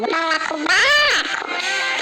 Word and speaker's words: balacobaco: Bom, imagine chamando no portão balacobaco. E dessa forma você descobre que na palavra balacobaco a sílaba tônica é o ba.